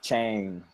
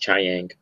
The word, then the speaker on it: Chiang: Yeah, I like the artist, Cliff Chang. Or Cliff Chang. I don't remember. I don't know if that's how you pronounce it. It's pronounced Chiang.